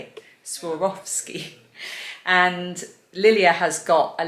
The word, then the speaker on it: Swarovski: commenter who told me how to say it swarovski and lilia has got a little funko pop